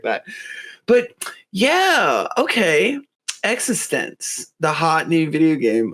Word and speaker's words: eXistenZ: um so ex ex so it's existence right exist existential not like existence yeah I guess it's kind of both but they definitely pronounce it existence now I I do